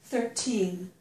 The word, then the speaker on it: thirteen: we say these words we do pronounce the T in Teen um whether or not we stress that syllable the t is pronounced as a t so this is 13 15 but here when